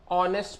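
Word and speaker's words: honest: बट फिर भी चूंकि एच क्या होता है, साइलेंट होता है, ये साइलेंट होने की वजह से ये हम पढ़ते हैं इसको ऑनेस्ट पढ़ते हैं।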